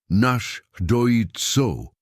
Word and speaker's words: Náshdóítso: Mary attempted to repeat it, stumbling over the pronunciation. His mouth curved slightly, not quite a smile, but close. "Náshdóítso," he corrected, speaking slower. "Náshdóítso," she tried again.